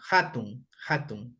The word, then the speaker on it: hatun: existe como tal y las palabras que se escriben con H suenan como la J, ¿no? Hatun, ¿ya?